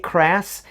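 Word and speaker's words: Krass: is Ram man now his real name is crass spelled like brass but with a k' crass and before he received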